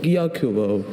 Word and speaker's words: Gyokuro: There's only Gyokuro. Gyokuro.